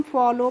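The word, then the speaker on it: follow: ऐसे कई वर्ड्स होते हैं जैसे एफ O double L ओ डब्ल्यू होता है तो उसको हम फॉलो पढ़ते हैं। डब्ल्यू का प्रोनाउंसिएशन नहीं करते हैं।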